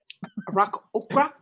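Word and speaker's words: Aarakocra: Arak Okra.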